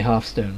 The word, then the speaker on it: Hearthstone: And I realise most people say halfstone, but before halfstone became a game and you didn't hear that word everywhere you went, you kind of had to come up with your own pronunciation, and I always thought, you sit by the hearth, I guess. I guess people say you sit by the hearth. Anyway, I've always just called it hearthstone.